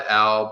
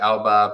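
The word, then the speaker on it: Elbe: you know speaking about the elb or the elba people you know there's different pronunciations but um you know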